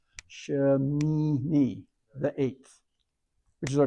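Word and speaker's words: שמיני: So now the next syllable is Shin, Mim with an E into the Yod, and the last syllable is Noon with an E sound and a Yod, so it's Ha, Shemini, the 8th, which is our Torah portion name, the 8th.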